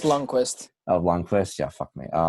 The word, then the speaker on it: Lundqvist: It's just Lundqvist.